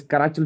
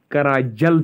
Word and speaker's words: Qarachil: कोई गर्ज नहीं है, तो आप याद रखना कराचल या कराजल एक ही बात है।